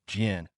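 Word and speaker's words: GEnx: Let me explain to friends just getting into civil aviation why it's pronounced GN because this symbol itself is a hyphen minus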